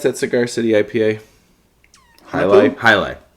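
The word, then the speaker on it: Jai Alai: well Works juicy bits then how do you pronounce that Cigar City IPA highight highight yeah highight uh Treehouse Julius is tied for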